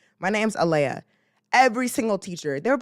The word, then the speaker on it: Aaliyah: No, I'd be like, it's Alea. It is Alea. This is how you say it. It's basic respect. That is my name. My name's Alea.